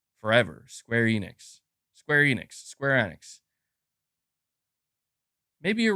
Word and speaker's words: Square Enix: right I guess yeah if that's how the developers are pronouncing it then I guess that's I guess that's how it's pronounced Square Annex I'll try to say